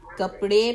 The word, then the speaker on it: कपड़े: अब यहां पर भी जो डी है नोट डाउन के यह ड़ की साउंड आएगी हजरत जैनब चली कपड़े पहनाने के लिए ठीक